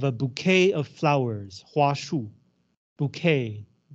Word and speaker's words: bouquet: bouquet of flowers hu bouquet it's pronounced bouquet because it's French as soon as I